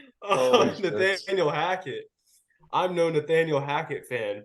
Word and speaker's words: Hackett: I'm no Nathaniel Fackett.